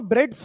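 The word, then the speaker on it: Bredt: यह वाला ब्रेड्स रूली सुना है ना आप लोग क्या बोलते हो फिर इसको ब्रेड्स रूली बोलते हो टी साइलेंट होता है बेटा अब मुझे बताना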